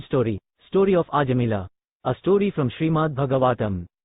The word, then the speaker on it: Ajamila: Holy Name Story, Story of Ajamila. A story from Srimad Bhagavatam. By His Divine Grace A.C. Bhaktivedanta Swami Prabhupada. There was once a young Brahmana named Ajamila, pronounced Aj-Amil, who was a reservoir of good character and conduct.